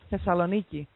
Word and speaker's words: Thessaloniki: Our city, it's called Thessaloniki. Thessaloniki.